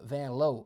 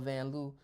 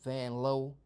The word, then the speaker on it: Vanloo: Uh Vanlow. Oh my goodness. People call her Vanloo. I was watching the Olympics. They say in her home country that name is pronounced Vanlow.